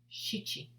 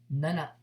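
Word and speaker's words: 七: Shichi, shichi. Or number 7 can also be pronounced as nana, nana.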